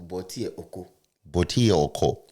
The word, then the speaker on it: Bortier: The e is silent. Yeah. So, Bauto Baut.